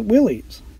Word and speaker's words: Willys: The same is true for the Willys Jeep on board. For years, I had mistakenly pronounced it as Willys.